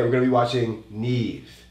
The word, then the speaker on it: NIve: Today we're going to be watching Neve. N-I-V-E, but it's pronounced Neve.